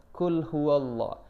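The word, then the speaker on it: قل هو الله: Tapi kalau kita perhatikan lebih spesifik lagi tadi dibacanya itu qul huo qul huwallah qul huwallah. Sedangkan di situ kan yang tertulis qul hua ya, qul hua. Jadi yang paling benar adalah qul huwallah.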